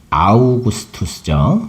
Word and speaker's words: 아우구스투스: 원래는 아우구스투스죠. 아구스도 한문으로 쓰기 편하게 그렇게 읽는 발음인데요.이 아구스도가 자기가 다스리는 영토안의 주민 모두에게 호적을 하라는 명령을 내린 거예요.이 황제의 본명은 옥타비아누스인데요.